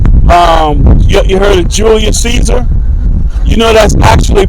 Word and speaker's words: Caesar: you heard of Julius Caesar you know that's actually pronounced kesar is c a e s a r k yeah same it's the same thing you know in English it's pronounced as Caesar yeah but how is